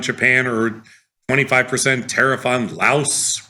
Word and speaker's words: Laos: like a 25% tariff on Japan or 25% tariff on Laos rhymes with house.